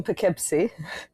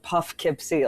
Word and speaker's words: Poughkeepsie: Well, I'm here in Poughkeepsie, New York. Okay. Which I I I called like Puffkeepsie until this morning and someone corrected me.